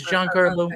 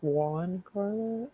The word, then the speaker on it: Giancarlo: it's g-i-a-n-c-a-r-l-o and e-s-p-o-s-i-t-o I think it's John Carlo I don't know like one it's pronounced Juan Carla that looks it's a